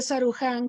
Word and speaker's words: Sarukhán: Gracias además por su pronunciación tan ortodoxa de mi apellido, porque en realidad en armenio es como usted lo pronuncia, pero bueno, estas cosas